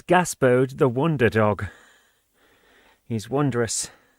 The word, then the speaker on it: Gaspode: As for how to pronounce those words, it's Gaspode the Wonder Dog.